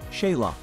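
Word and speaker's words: Xela: Quetzaltenango is the town's colonial Spanish name, but Sila is its Mayan name. So most locals will call it Sila, pronounced Sheila.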